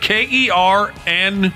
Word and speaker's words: colonel: He made it all the way up to Colonel, which is spelled Kernel.